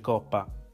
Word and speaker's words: COPPA: Le opzioni e le funzioni sono identiche alla grafica precedente dello YouTube Studio, tranne magari le opzioni relative alla legge COPPA, pronunciamo l'acronimo in questo modo.